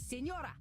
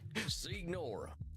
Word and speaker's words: Signora: It is Senora. Senora. It is not a wig. Well, jeez, you don't have to be so mean. Then say it properly. Senora. Say it. It's so funny. Signora.